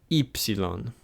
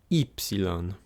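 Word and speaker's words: ύψιλον: Ypsilon. Ypsilon. This is the third and final letter, like ita and iota, that when you see it by itself, it will be pronounced E.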